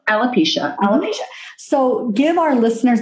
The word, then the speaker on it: alopecia: based around, and I'll probably say it wrong, alopecia. Did I say it right? Alopecia.